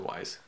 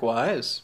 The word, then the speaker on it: Weiss: No, Wise. It's definitely Wise. Eric Wise. Yeah, because that's the Jewish pronunciation.